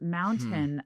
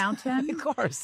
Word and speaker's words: mountain: And what was interesting with Doug is when you said it the first time you said it in the hyperarticulate way, mountain. Right. then and then you corrected yourself. You're like, mountain.